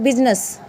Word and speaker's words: business: तो यहाँ पे BUSINESS, तो ये क्या होता है, बिजनेस। क्या होता है, ये बिजनेस। यहाँ पे I नहीं बोला जाता।